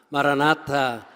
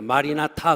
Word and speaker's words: 마라나타: 마라나타. 근데 여러분 발음을 잘해야 돼요. 마리나타 그러면 안 돼요.